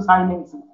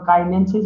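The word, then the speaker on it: chinensis: যেমন আমাদের উচ্চারণ আমরা বলতাম হলো কাইনেনসিস, আসলে উচ্চারণ হলো সাইনেনসিস।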